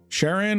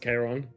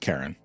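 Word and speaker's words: Charon: Sharon or Char? I've always called it a Sharon. I actually This is the Greek in me. I believe it's pronounced Kiron.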